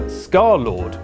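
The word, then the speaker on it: scarlxrd: music video girlfriend under his new name scarlord which is pronounced like that but spelled like this he likes to replace o's with x's well actually I think vowels with x's there's some x's in there somewhere and in 2017 he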